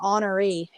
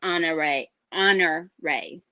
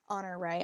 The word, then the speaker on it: Honoree: I was calling her Honoree. Am I saying that so wrong? In the audiobook, it's she mentions it's Honor Ray. Honor Ray.